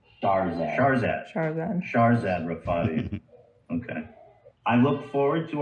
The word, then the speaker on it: Shahrzad Rafati: Shahrzad Rafati.